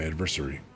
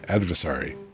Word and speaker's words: adversary: a retreat to my adversary. Adversary is actually how I should have been. I thought I was being snarky and clever. Adversary is how that damn word is supposed to be pronounced.